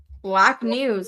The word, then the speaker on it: BLKNWS: happen, but it's an excellent film, and that's Black News. That's a like experimental documentary, so I'm not expecting it. But if they got in tomorrow, I'd be like, oh, that's lovely. Black News.